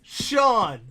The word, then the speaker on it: Sean: So, yes, everybody out there, it's Sean. Just like Sean, it's Sean. Okay.